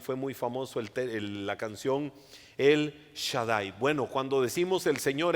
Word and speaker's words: El Shaddai: El kank Cómo se dice en hebreo omnipotente El Shaddai recuerdan muchos ese canto El Shaddai El Shaddai